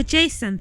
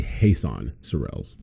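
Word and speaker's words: Jesan Sorrells: oh yeah so jason thank you for taking the time to talk to me so have i got your name pronounced right i'm not too sure it's actually hasan sorelles okay thank you for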